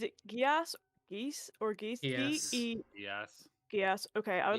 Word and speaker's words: Geas: I don't know how this is pronounced. Is it Gias, Geese, or Geese? Gias.